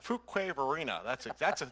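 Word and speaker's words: Fuquay-Varina: Fuquay Varina.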